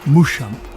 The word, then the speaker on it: Muschamp: Accordingly, the name Mushamp became anglicized with the letter P being silent and the name Mushin was first pronounced as Mustan.